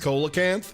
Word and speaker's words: Coelacanth: Coelacanth is actually pronounced Coelacanth.